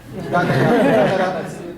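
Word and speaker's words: Gándara: Gandara, the accent on the first A.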